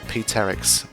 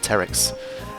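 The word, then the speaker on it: Pteryx: In order to get 99, you need to unlock P-Terix, or if the P is silent, Terix.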